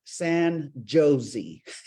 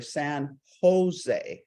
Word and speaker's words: San Jose: We pronounce our J's like Jose, and so you're looking for San Jose."